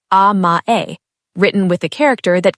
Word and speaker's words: amae: This brings us to the second concept, amae. Pronounced ah-mah-eh, written with the character that carries the meaning of sweetness, specifically the sweetness of depending on someone who you trust completely.